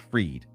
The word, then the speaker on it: Fried: So it's spelled like fried but it's pronounced freed.